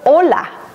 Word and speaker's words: hola: hey hanpei he katana a chi is a silent letter as in the world hola hello but if we didn't have the letter H it would say hola which means an ocean wave so one letter makes